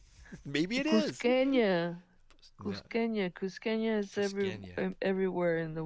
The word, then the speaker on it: Cusqueña: No, Cusqueña is Cusqueña.